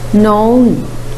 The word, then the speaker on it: known: The last word, known, known. The silent letter is K.